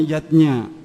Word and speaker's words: Yadnya: artinya lima macam selamatan zatnya tulisannya chiajna Ayah Bunda tapi membacanya yadnya yang pertama adalah dewa